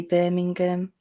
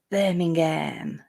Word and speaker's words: Birmingham: is in when you the way you guys say birmingham we call it birmingham like with a ham like birmingham and it's it's in